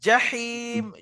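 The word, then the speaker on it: الْجَحِيم: থেকে আওয়াজটা বেরিয়ে আসবেন লাতারাউন লাতারুন আল জাহিম যা জিবের মাঝখানে উপরে তালু জীবের জিমের মাখরাজ আর হার মাখরাজ কোরআন মাঝখান থেকে জাহিম জাহিম জাহিম জাহিম জাহিম জাহিম জাহিম আজকের শুধু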